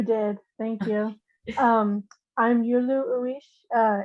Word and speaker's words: Yulu: thank you and uh last but not least yulu did i pronounce that right you did thank you um i'm yulu uresh uh it's my uh tribal name uh